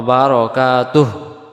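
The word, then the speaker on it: وبركاته: উচ্চারণ বাদ চলে যায় এখানে যদি হু বলি দম ছাড়া যাবে না দমটা ছেড়ে দেওয়া বারাকাতুহ এমন হবে মানে তার তখন বারকাতু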